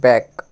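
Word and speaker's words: back: হচ্ছে চাপড়ানো নেক্সট যেটি আছে পিট পিঠের হচ্ছে ব্যাক বি এ সি কে বি এ সি কে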